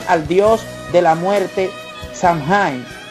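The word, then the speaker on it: Samhain: dios de la muerte shanghai pronunciado sama así a quien le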